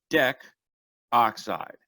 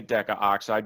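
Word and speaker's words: decoxide: immediately just go into Dec oxide do not end up putting deca oxide or pronouncing a deca oxide because that is not systematically correct for B we have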